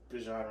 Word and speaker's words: Bijan: Bijan Robinson's yards per carry and short yardage is 5.7.